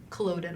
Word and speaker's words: Culloden: I also wonder, you talked about earlier how after Culloden, I believe I'm pronouncing that correctly.